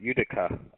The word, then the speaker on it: Utica: Utica, Uniform Tango, India, Charlie, Alpha. Okay, yeah, I just did not want to mispronounce that. Utica.